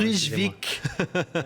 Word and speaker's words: Kruijswijk: Kruijswijk, c'est du hollandais, de l'auto, mais ça s'écrit Kruijswijk. Donc voilà, à 5 jours de la fin, Kruijswijk, il compte 3 minutes d'avance.